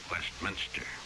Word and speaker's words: Westminster: Word for the day is Westminster. Westminster Abbey. Don't put two eyes in Westminster. Quite often you hear Westminster. It isn't Minster.